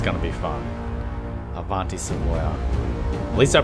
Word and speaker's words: Avanti: this looks like it's going to be fun Avanti at least I pronounced it right the adti I was pronouncing